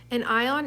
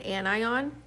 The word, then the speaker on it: anion: a negative ion and it's called an anion you can think of it's kind of spelled like onion onions usually make people cry